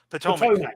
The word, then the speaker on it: Potomac: Lee, and the Union Army of the Potomac. How do you pronounce that? Potomac, isn't it? Potomac. Yeah.